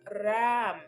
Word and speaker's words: Ram: Our mantra is Ram. Okay. Ram. Ram. Ram. Ram. If you can't roll your R's, it would be Ram. Okay? Ram. But Ram. Okay?